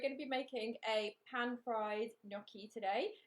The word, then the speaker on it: gnocchi: going to show you the nokia today sorry the gnocchi we have to be careful how to say it make sure that we've got a proper new at the start of that uh so this is